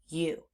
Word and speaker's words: you: Instead, they're saying oo. And that's the part of this word that we need to know by heart. So, we have u you.